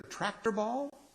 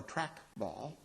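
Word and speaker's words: trackball: This is either tractor ball or track ball. I was told I was saying it wrong. Tractors are in the fields. Track balls are on devices.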